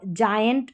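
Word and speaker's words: giant: तो यहां पर है जेम और जायंट और जिम क्योंकि जी के बाद में आई है।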